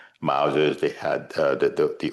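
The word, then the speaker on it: Mauser: Uh people carrying long guns in those days they had those long they call mosa or mousa that's how they pronounce one in English mousers.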